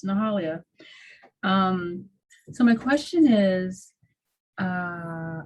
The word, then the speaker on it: Nahalia: And you hit every syllable. It's Nahalia.